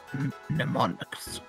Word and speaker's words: mnemonics: I think the M silent, or either the N silent. Oh, mnemonics.